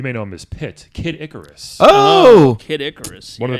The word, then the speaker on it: Kid Icarus: go first Mario and Kid Icarus or some back in elementary scho kid I Caris used to call him it's not kidis it's kidicarus this person sounds like